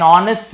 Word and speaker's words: honest: Same way here I'll use N because my H is silent. An hour, an honest man.